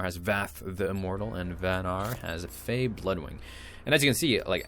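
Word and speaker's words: Vanar: magmar and Bernard or van are I guess is how it's pronounced van R is the most recently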